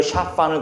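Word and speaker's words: שָׁפָן: 사반이라고 하는 것은 사실은 히브리어 샤판을 그냥 발음 소리 나는 대로 적은 거예요.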